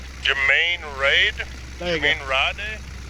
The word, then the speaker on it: Gemeinde Rade: Hey Mark, do you want to pronounce the map for me, please? Gemeinde Rade. There you go. Gemeinde Rade.